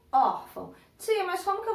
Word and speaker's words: órfão: Por exemplo, quando eu falo órfão, qual foi a sílaba que eu falei mais alto, que eu tive mais ênfase para falar, que eu tive, né, que eu falei ela de uma forma mais forte? Ó, órfão. Então, eu tenho o órfão.